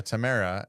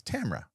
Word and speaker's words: Tamra: We Tamara, and it's Tamra.